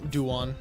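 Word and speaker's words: Daewon: How do you say his name? What is it? Dawan. Yeah. Dawan. Okay. I say Duwan. Duwan. I feel like I say it wrong every time.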